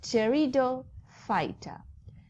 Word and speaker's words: Pteridophyta: So Pteridophyta, P is silent, okay?